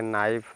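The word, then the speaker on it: knife: है के साइलेंट तो एन आई एफ ही इसको पढ़ेंगे नाइफ नाइफ मींस चाकू नेक्स्ट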